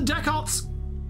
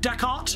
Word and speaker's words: Dechart: you've all helped the deck Arts it's how it's pronounced right deck art I thought it was